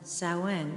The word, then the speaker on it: Samhain: uh i'm going to say this right saoin sowen and now it's spelled s-a-m-h-a-i-n but it's pronounced samhain and i'm